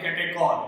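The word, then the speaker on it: catechol: इसका common name है कैटेचॉल। कैटेचॉल, कई बार इसे बोला जाता है कैटेकॉल, क्लियर।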